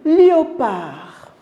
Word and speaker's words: léopard: vous entendez la lettre des noms meti on prononce pas la lettre d ça se dit léopard à notre exemple le canard regardez à l'écrit